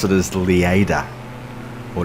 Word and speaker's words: Lleida: I would pronounce it as Lleida. Or Lleida.